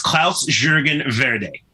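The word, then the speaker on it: Klaus-Jürgen Wrede: Yes, Klaus Jürgen Verde. Okay. Could you do it one more time just because you did it so well? Sure. Klaus Jürgen Verde.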